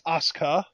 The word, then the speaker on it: Asuka: just got educated uh anytime you see Su in Japan I mean obviously in your I mean still you it's still technically a really subtle pronunciation of the U but if you really just want to be quick about it you can just kind of skip over the U and act like it doesn't exist well I'm glad you